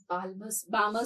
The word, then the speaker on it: Balmer: electron will come unto Balmer series. L is silent.